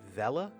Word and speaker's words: Vela: Vela. Yeah, like Bella.